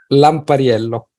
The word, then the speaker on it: Lampariello: Lampariello, Luca Lampariello. Okay, nunca he aprendido nada de italiano. Lampariello, Lampariello, Lampariello. Perfecto, lo has pronunciado perfecto.